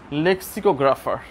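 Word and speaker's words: lexicographer: ও জি আর এ পি এইচ ই আর লেক্সিকোগ্রাফার যারা dictionary লেখে তাদেরকে আমরা বলি লেক্সিকোগ্রাফার উচ্চারণটা হচ্ছে এরকম ঠিক তোমার তুমি তো আর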